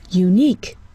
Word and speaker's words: unique: Unique. We see a U, but we hear a consonant sound, U.